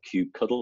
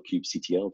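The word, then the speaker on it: kubectl: annuities you know about cube cuddle or cube CTL depending on how you say it Q control vs.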